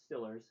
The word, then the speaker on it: Steelers: First and foremost, it's pronounced Stillers.